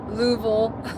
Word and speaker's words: Louisville: Yeah, Louisville, yeah. We just got to swallow the I and the S and just say it like it's, yeah. Jan spelled it Luville.